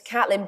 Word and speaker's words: Caitlin: particularly uh is it Kaitlin or Catlin it's Catelyn but it shouldn't be I picked it out of a Jilly Cooper novel when I was 13 and I pronounced it incorrectly I'm an idiot fair